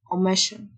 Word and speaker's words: omission: S-S-I-O تنطق شه، omission.